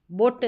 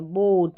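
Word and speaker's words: boat: जैसे ये ओ ए, अगर ओ और ए साथ में आ जाते हैं, बोट, बोट नहीं है, बोट, यानी ओ का साउंड आ रहा है, वो भी लॉन्ग, लंबा उच्चारण।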